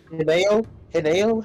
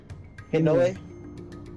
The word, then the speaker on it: Hinoe: Hineo? How do I say her name? Hinoe. That's right.